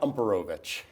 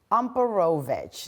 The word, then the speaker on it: Umperovitch: So, Zach Umperovitch. Umperovitch.